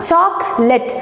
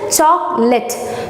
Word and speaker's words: chocolate: up the under the APA pronounce for La Mina choc let so the problems promoter give me a chocolate and so no chocolate in Solaria so relax your pronunciation chalk let so last in nabina